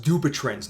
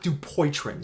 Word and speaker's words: Dupuytren: different oh and by the way rob it's pronounced dubitrans not dupoitrons so you're welcome he then tries to expand